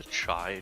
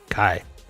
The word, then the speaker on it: Chai: Did you actually just say the Chai chapter? It's Chai. Kai. It is definitely Kai.